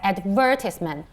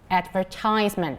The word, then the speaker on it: advertisement: would be pronounced as advertisement so the stress is on the second syllable okay advertisement okay but then if it is american english okay then the stress is on the third syllable okay advertisement okay so times so